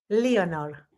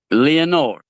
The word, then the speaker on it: Leonor: But your first name and I know you're you're do you pronounce that Leonor. Leonor. How do you how do you say that properly? Leonor. Leonor.